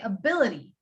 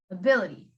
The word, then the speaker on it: ability: though um next one ability ability because or t is okay this is example t t is surrounded by um i and y he's surrounded by i and y so we'd say ability ability next one we need